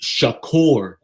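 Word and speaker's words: שחור: It looks like it's pronounced shakor in these biblical people language.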